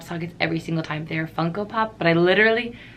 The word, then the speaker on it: Funko Pop: thought I'd be a Funko Pop collector. I said it right this time, Funko Pop.